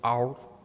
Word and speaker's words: autre: Se trata de our o algo así, se escribe autre, ¿sí? Se pronuncia our, que es francés, porque Lacan, Jacques Lacan, es un psicoanalista francés que expuso una teoría en defensa del psicoanálisis.